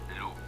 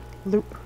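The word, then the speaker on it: loupe: watchmakers for intricate work let's say it all together loop loop okay yeah it's oh with the Welsh and the French uh work I've done I want to pronounce the E anyway Loop uh most fure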